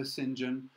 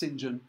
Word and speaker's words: St. John: now to this character Sinjin it looks like st. john by the way but it's pronounced Sinjin he's kind of key